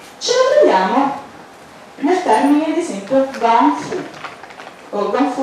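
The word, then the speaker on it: gōngfu: nel termine ad esempio Gongfu. Kung Fu è come noi malamente, cioè sarebbe la giusta pronuncia di quello che noi malamente chiamiamo Kung Fu.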